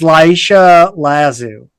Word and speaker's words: Laisha Lazu: Well, her name is actually a few less syllables than that. Yes. And it's Laisha Lazu.